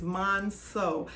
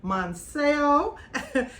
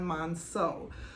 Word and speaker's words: Monceau: I didn't realize that the correct pronunciation of this bag is Monceau. I have been calling this bag the Louis Vuitton Monceau, and I want to go ahead and correct